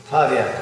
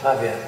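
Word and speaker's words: Pawiak: Pavia. They call it Pavia. Can you spell it?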